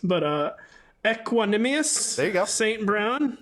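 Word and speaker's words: Equanimeous: first one I've never really known how to pronounce, but Equanimous there you go.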